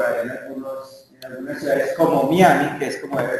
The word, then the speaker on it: Miami: o Miami, no sé, porque la palabra se pronuncia Miami, como lo es en el diccionario panhispánico de dudas.